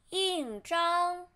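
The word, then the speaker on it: 印章: 图钉 and seal 印章印章印章 in first turn 章 flatten 印章印章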